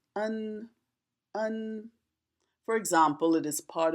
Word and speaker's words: 恩: It is pronounced un.